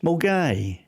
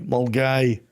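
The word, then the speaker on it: Milngavie: And for all of you nonscots, that is pronounced Mgai. M U L G UI. Mulgai. Right. Even though it says Milgabi.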